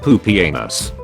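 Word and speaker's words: Pupienus: remember that there was a Roman Emperor whose name was literally pronounced poopy anus one thousand college students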